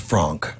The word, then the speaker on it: Frank: The original version was commissioned by Otto Frank, or as it would have been pronounced, Frank. And we do try to use the actual pronunciations of their names. So she's referred to as Anna Frank. Anna Frank.